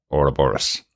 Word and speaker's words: Ouroboros: there uh so um we're going to pronounce it the way the American uh show pronounces it as uh Ora Boris right yes and that